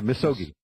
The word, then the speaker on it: misogi: Did I pronounce that right? Yeah, misogi.